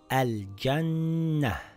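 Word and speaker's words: ٱلْجَنَّةَ: It reads al-jannah.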